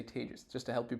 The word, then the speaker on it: Tejas: about some interesting things uh my name is tejas that's pronounced like contagious i'm not contagious though like i've tested negative multiple times um but contagious is the way you say tages just to help you pronounce it uh and